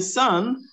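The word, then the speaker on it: son: Now in sun, S-O-N, I have this sound. I'm going to show you. Suck up. Sun, like up. Yes, like up.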